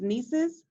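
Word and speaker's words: NCEES: as an ela teacher i cannot bring myself to logically pronounce this acronym as nieces but that is how it is pronounced although there is no e after the end this is an acronym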